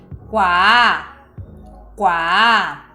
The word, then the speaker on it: kuaa: que também é oral significa inteligência ou saber quá quá e por último adicionei uma palavra com a